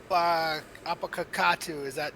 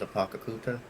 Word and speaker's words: Apakakuta: Did I say it right? Not even close. Enlighten us for those who want to know. For simplicity's sake, we'll just go by. The real way you say it is Apakakuta.